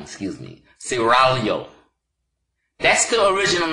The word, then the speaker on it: Seraglio: Pronounce it Seraglio. I gotta roll the tongue, excuse me. Seraglio.